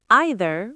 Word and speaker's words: either: And don't forget the pronunciation. Either or either. Both are fine.